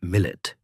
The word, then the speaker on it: millet: The word millet pronounced millet is an Arabic term meaning nation or community.